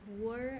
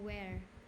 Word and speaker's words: where: This one, were or where? Where. Where. Where. Where. Not were, like where.